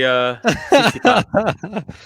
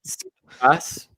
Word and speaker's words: Tsitsipas: And for some reason, I find it just blows your mind even more because he actually pronounces the T when he says his name.